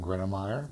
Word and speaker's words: Gruenmeier: We know you're with BRG and that last name that I'm too scared to pronounce. My name is Gruenmeier, and I am the field supervisor of the HVAC department.